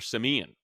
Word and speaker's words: Siemian: They always, all the teams he played for, Trevor Siemian, Hmm. phonetically pronounced, is supposed to be Trevor Simeon.